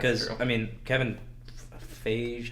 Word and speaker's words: Feige: I mean, Kevin Feige, how do you pronounce it? Feige. like the water. Kevin. That's Fiji. We'll take off the eye.